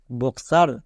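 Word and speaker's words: boxer: একটাও গয়ে বর্গীজ না next বক্সার এখানেও দেখো এখানেও সেম কেস এক্স এর পরেই ভাওয়েল তাই এটা হলো বক্সার মানে কয় দন্ত আকার রো বক্সার তাহলে এই তিনটা ওয়ার্ড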